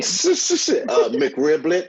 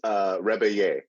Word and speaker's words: Rebillet: McRiblet, it's back, guys. No, it's Rebillet. Rebillet. Oh, that sounds so much fancier than it sounded in my head. Yeah, Marc Rebillet.